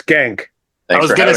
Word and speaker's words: Schenck: guys thank you so much let's start with pronunciation it's skank I was gonna say I bet you I'm